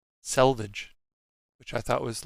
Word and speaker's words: selvage: same thing and salvage the salvage edge it's selvage s-e-l not salvaged s-a-l i didn't know that